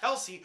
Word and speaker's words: Kelce: And Travis Kelce, who I kept mispronouncing this Klecky for whatever reason because I'm an idiot, with 30.6.